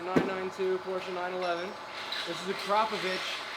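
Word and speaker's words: Akrapovič: porsche 911 this is akrapovic it's pronounced acropovich not acropovic i've seen guys at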